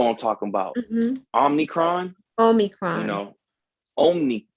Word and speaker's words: Omicron: we hearing about this omnicron omnicron i don't know how to say it but y'all know what i'm talking about omnicron omicron you know omni i don't think it's omni i think it's omicron yeah i think that's